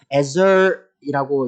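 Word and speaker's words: עזר: 이 세 번역에 알맞은 짝이라고 번역된 히브리어 단어는요, 에저이라고 이제 히브리어로 발음이 되는데, 이 개역 개정에서는요, 돕는 배필이라고 번역되기도 합니다.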